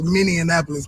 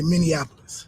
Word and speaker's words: Minneapolis: I had it wrong everybody says miniapolis because of Indianapolis Indianapolis is how you say that but uh in Minnesota you say Minneapolis Minneapolis Minneapolis Minnesota okay